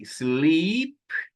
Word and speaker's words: sleep: Quando eu tenho apenas uma vogal, o som fica curto.